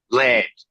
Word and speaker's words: Laird: But Laird, that's not, how do you say it, Jay? Laird. Laird. It's kind of like got a little Boston kind of thing to it.